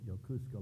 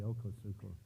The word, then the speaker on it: Yokosuka: destroyer Skipper and uh I pronounced it yusa last night and Mary Joe says that's not the right way to pronounce it but anyway Yokosuka whatever uh anyway and then he